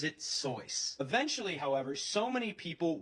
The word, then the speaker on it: Seuss: You're wrong as the deuce, and you shouldn't rejoice. If you're calling him Seuss, he pronounces it Seuss.